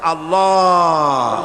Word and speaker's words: আল্লাহ: আল্লাহ পাকের উচ্চারণটা হচ্ছে আল্লাহ পাকের নামের উচ্চারণ হচ্ছে আল্লাহ মুখটা একটু গোল হয়ে যাবে বলেন আল্লাহ আল্লাহ সুবহানাল্লাহ